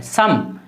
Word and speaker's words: some: सम SOME सम, आ पढ़ रहे हैं।